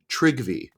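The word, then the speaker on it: Trygve: heard very often uh it's spelled TR r y gve trivy yeah W Curtis trivy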